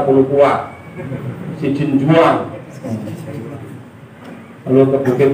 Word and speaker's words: Palupuah: Jadi Palupuah itu bacanya Palupuah, Sijin Juang.